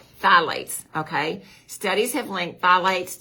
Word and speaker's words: phthalates: phthylates now it's it's spelt p-h-t-h-a-l-a-t-s but it's pronounced phthalates okay studies have linked phthalates to hormone changes